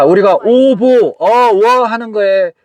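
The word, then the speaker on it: овоо: 자 우리가 오보 어워 하는 거에 발음을 정확하게 원어민 발음으로 오보 우리 선왕당 그 발음을 들어보겠습니다. 어워 어워 어워 이렇게 되잖아.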